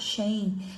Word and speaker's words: Schein: Tem um autor, né, muito conhecido, que é o pai da cultura organizacional, que se chama Edgar Schein. Se vocês quiserem pesquisar, Schein se escreve S-C-H-E-I-N, Schein.